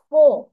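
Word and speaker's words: four: তুমি এফ এর জন্য ফ কিন্তু জোর দিয়ে করছো, ফো। বাট লাস্টে দেখো আমি যদি ব্রিটিশ প্রোনাউন্সিয়েশন করতে চাই তখন কি হয়ে যাবে? F-O-U-R, ফো, নট 4। কিভাবে উচ্চারণ করে ওরা? ফো, 1 2 3 4, F-O-U-R.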